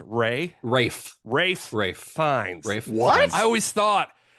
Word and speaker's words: Fiennes: Is it that Ralph is pronounced Ray? Rafe. Fiennes.